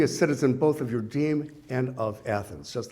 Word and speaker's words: deme: Let me say first that these villages are called demes, D-E-M-E. It's a little confusing because it sounds like the word demos for people, but deme.